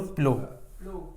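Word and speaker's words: plough: जोतने को बोलते हैं हम नो इसको बोलो प्लो हां केवल इतना बोलो पी एल ओ ओनली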